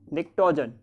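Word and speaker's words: pnictogen: फिर group 15, group 15 this one नाइट्रोजन वाला group, उसका बोलते हैं निक्टोजन, ठीक है। पी साइलेंट है, उसका नाम है निक्टोजन ग्रुप।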